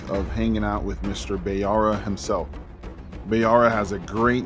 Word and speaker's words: Bayara: Welcome, Bayara. Which one is it, man? Bayara. Okay, Bayara. Okay, your name is probably one of those top 10 most mispronounced names, because I've heard about 6 renditions of it.